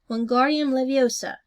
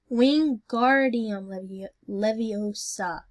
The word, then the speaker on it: Wingardium Leviosa: "Wingardium Leviosa," he shouted, waving his long arms like a windmill. "You're saying it wrong," Harry heard Hermione snap. "It's Wingardium Leviosa, not Make the guard nice and long."